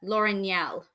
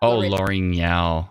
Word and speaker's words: L'Orignal: And then on the other hand, L'Orignal. Not L'Orignal. Oh, I started calling it Lamousse, didn't I? That was my way around saying. But say it for me again. L'Orignal.